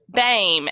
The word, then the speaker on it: Boehme: mess it up babe beim and it is not spelled like that at all so Dame and